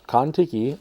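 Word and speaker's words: Kontiki: so folks if you heard that uh it's contiki it's spelled k-o-n-t-i-k-i so it should be in the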